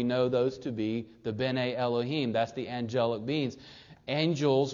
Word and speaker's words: Bene Elohim: If you want to study the Hebrew, it's called Bene Elohim. And I'll spell it.